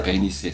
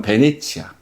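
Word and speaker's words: Venezia: 이탈리아 베니스의 상인. 이탈리아 베니스죠, 그러니까. 이게 영어식 발음이고 원래 이탈리아식 발음은 베네치아.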